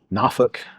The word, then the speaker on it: Norfolk: know, out in uh Nafuk. They say that's how they say it. What you call me? It's Norfolk, but they say they say Naf.